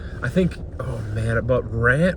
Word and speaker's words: Ran: But ran Ran. I keep I want to pronounce it ran because it's an English word aesthetically, but it's a Japanese word.